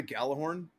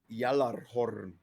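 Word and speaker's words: Gjallarhorn: You know how you say it in um in Norse? How you say it in Norse? Yalorn. That's how you're supposed to say it.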